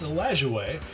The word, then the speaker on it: Lajoie: Nat Lajoie, who, no thanks to Wikipedia, I now know is actually pronounced Lajoie, scratched out 3 hits to get off to a nice start.